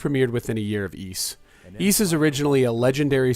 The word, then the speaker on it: Ys: Ys, a game that's often mispronounced as Wise thanks to a mistranslation that put an apostrophe in between the two letters that make up its name. Ys is still around today,